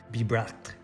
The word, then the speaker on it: Bibracte: I'm glad you did that one because that's a hard one to pronounce. Bibracte.